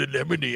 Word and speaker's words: anemone: It's called an anemone.